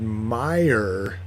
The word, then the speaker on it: Meijer: We went into a King Supers and it had Meyer. So is Myers the same as Fred Meyers? No. Okay. So Kroger owns a chain called Fred Meyers. Yeah, Meyer is spelled Meijer.